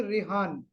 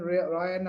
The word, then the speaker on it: Rehan: I think his name is Rehan. Okay, Maybe some maybe pronunciation. he modernized it when we were in Yes, England to make it easy for us. yes. I think Rehan name is Bright, so Rehan. So some people say according to their pronunciation Ryan or something.